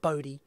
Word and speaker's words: Bode: But where are the Bode plots, for example? No, not Bode. Bode. That's how we pronounce it here.